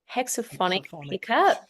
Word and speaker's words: Hexonic: to say this wrong hexonic I said that right yeah you said it right look it's funny you